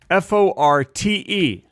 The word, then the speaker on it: forte: Common choices in American English are forte and forte, but many usage commentators recommend matching it to fort since the E is not pronounced in French.